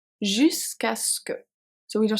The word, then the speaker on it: jusqu'à ce que: This one is a bit hard to pronounce. Jusqu'à ce que.